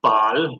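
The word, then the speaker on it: Baal: of the pagan god bale that God pronounced ball bow back in those days was simply meant lower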